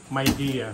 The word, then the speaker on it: Midea: Paano pronunciation yan? Midea. Mayya po. Myidea. Yes po.